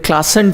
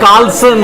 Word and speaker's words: Klaassen: Klaassen. Yeah, I said Klaassen. No, You said Carlson.